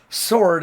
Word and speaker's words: sword: Of course, sword is spelled S-W-O-R-D. So they overemphasize the W even when they don't need to, just to make the rhyme.